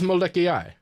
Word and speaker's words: Molokai: pretty cool oh no it is it is molecule like that's how you pronounce it oh okay yeah cool yeah yeah